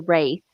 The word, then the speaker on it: Wraith: I think I did say that wrong. It's The Wraith.